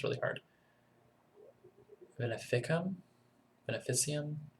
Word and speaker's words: veneficium: so expensive um called the ven ven can't pronounce this word it's really hard Venum veneficium it's V NE fi C IU M and